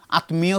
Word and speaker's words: আত্মা: বলে মহাত্মা মহাত্মা গান্ধী তারা বলে আতমা আতমা কিন্তু ওরা ওই মটা উচ্চারণ করবে কিন্তু আমরা যারা বাংলা ভাষী তারা সঠিক নিয়মটা তো জানি তাই আমরা আত্মা বলব আংশিক নাকে আসবে তাহলে আমরা